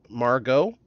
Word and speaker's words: Margot: It would be Margot, maybe? I think T, the T is silent.